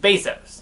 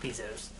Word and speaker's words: Bezos: bezos thank you google says i should be pronouncing it bezos not pieces even though it is an e anyways bezos